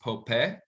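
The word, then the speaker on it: Popé: Then in 1680, a man named Pope, it's going to be spelled like Pope, but it's pronounced Pope, who is a cultural and religious leader for the Acoma and Pueblo Native Americans, organizes a revolt against the Spanish.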